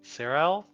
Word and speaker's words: Cyril: And I think she might be our person we need to find out more information on Cyril? Question mark? Well, Pronunciation check? Surreal.